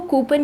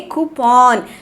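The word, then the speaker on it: coupon: इसको यहाँ पे इंग्लिश में बोलेंगे कूपन। कूपन बोलेंगे हम लोग इसे इंग्लिश में। काफ़ी सारे शब्द ऐसे हैं जो कि इंग्लिश में अलग प्रोनाउंस होते हैं और हिंदी में अलग प्रोनाउंस होते हैं।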